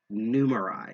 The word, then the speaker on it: Numerai: i'm pronouncing this correctly numerai uh it's actually kind of clever because it's it's a combination of number and a i numerai in fact the last